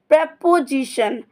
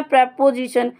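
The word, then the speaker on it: preposition: तो आपका parts of speech का सिक्स्थ वर्ड है प्रेपोजिशन। इसको हमारा सही प्रोनाउंसिएशन है प्रेपोजिशन। लोग और बच्चे पढ़ लेते हैं इसे प्रीपोजिशन। प्रीपोजिशन नहीं होता, इसका सही प्रोनाउंसिएशन होता है प्रेपोजिशन।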